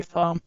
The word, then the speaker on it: thumb: Many learners pronounce the B in thumb but it is silent. Oh. So we say thumb without the B sound.